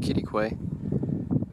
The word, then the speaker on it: Quitaque: Quitaque, pronounced Quitaque.